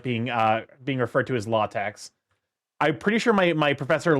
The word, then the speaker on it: LaTeX: And closer to LaTeX is the common way to pronounce latex. Although there's a few accepted variants, like the X in tex is meant to be chi.